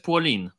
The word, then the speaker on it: Polen: katorska płoolin bo Polska jest płoline znaczy pisze się Polen ale czyta się płonie więc jest nie polin tak jak tutaj spiskowcy będą zaraz że muzeum polin nie płolin ale bo w sumie jest Polen ale nie czytają tak jak Niemcy chociaż piszą tak Jak